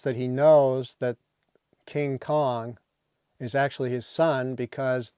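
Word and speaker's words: Viet Cong: only Kong is spelled with a C because the Vietkong which relates to the it was the generic term for the uh uh communistled arm movement in South Vietnam.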